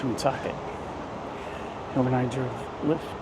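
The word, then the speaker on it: Woonsocket: Then there's a little town just as you cross into River Island called Wak. No, it's one socket.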